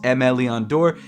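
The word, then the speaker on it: Aimé Leon Dore: up first of all i finally learned how to pronounce mleon door it's m leon door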